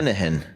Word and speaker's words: Linehan: Linehan. Yeah. See, that's different than how I was going to pronounce it. Linehan, yeah.